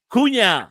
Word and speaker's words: Cunha: I want to thank so much uh Celeste Kuna.